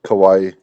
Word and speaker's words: kawaii: I th- I think it's like pronounced like Hawaii, like Kawaii.